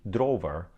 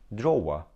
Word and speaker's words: drawer: understand it for example if you mispronounce this word and say drover then if you hear the correct pronunciation which is drawer you won't understand it